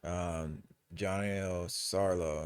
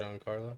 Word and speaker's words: Giancarlo Esposito: I fucking love this actor, Johnny Sarlo. I'm sorry if I mispronounced your name, Esposito. He was Gus Freeman and oh, Giancarlo Esposito? see, Yeah, but Giancarlo.